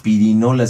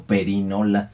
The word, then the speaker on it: perinola: Bueno, hay quienes señalan que no se dice pirinola, sino perinola.